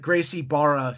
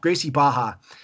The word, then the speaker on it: Gracie Barra: I said it's called like I called it Gracie Barra for years they don't like that it's it's pronounced as an age so Gracie baha but uh you know obviously so I started